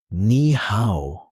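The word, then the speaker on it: 你好: Pronounced nihow. Let's slow it down. Nih how one more time.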